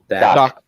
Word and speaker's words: Dak: Is it the right way to say Dak It's or Doc. Dake? Doc. D-A-K, Doc. Doc.